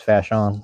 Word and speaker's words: Fashawn: It looked like Fashawn the way it's spelled out, but it's Fashawn.